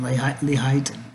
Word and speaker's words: Lehighton: Lehighton in Pennsylvania. That's how you really pronounce it.